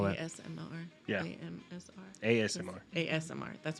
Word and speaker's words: ASMR: I don't know about the squishing part, but just making Yeah, AMSRs. There you go. Whatever that is. Can't spell that. ASMR. Yeah. AMSR. ASMR.